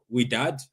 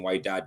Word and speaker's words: Wydad: Anyway, so yesterday, Man City played uh We Dad. That's how they say it, I think. So I kept on saying why dad but it's we dad.